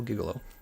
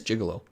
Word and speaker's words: gigolo: I am a male giggle oh is a giggle oh did you a gigolo I think it's gigolo I think I'm think I was pronouncing it wrong there yes I primarily